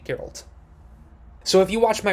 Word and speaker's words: Geralt: magic by the way last time i kept mispronouncing geralt as guerralt so i got good this time and i'm gonna keep pronouncing it geralt so if you watched